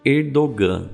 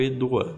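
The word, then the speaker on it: Erdoğan: É esse cara que está aí na foto, que o nome dele é Recep Tayyip Erdogan, ou Erdogan. As duas formas de pronúncia não tem problema nenhum, tá?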